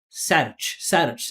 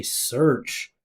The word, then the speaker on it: search: Don't say sage. Say search.